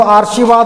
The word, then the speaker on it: आशीर्वाद: कहाँ पर दें, लोग इधर दे देते हैं, इधर देंगे तो आशीर्वाद हो जाएगा, क्योंकि जिस वर्ण के ऊपर उसका व्यवहार हो उससे पहले र का उच्चारण होगा, तो इसलिए आशीर्वाद ये होगा।